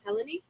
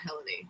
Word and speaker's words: Helene: looked this Helen wer heleny it's definitely not heleny that's the wrong way to pronounce Helen Helen are you gonna